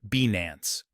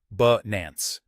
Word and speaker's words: Binance: Well, as we explored earlier, the correct pronunciation that people tend to use is Binance. The key is that the I in Binance is short, similar to the A sound in about.